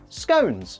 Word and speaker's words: scone: the awesomely great smell, scones. Yes, they rhyme with cones, and I will fight everybody on this. Cone is literally in the name. So if you say scone, get gone because you're wrong.